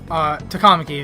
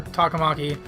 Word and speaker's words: Takamaki: calling her talking monkey I keep trying not to call her two comma K because like the game calls her two comma key and like I don't like that pronunciation it's not very indicative of like the proper pronunciation so I'm gonna call her taka Maki but this game